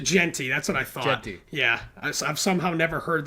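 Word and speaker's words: Jeanty: And how do you pronounce the Boise State running back's name? Ashton Genty. Is it Genty? That's what I thought. Genty.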